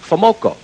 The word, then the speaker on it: FoMoCo: f o m o c o and it's pronounced famoco now you go to any any dealer in the world sells them parts and you say famoco the guy will say a little chunk of